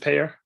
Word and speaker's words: Pair: say your last name is just pear yeah pair like a pair of shoes okay I wasn't sure